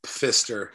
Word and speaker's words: Pfister: p though correct yeah p at the front of of fister it's a silent p which uh you know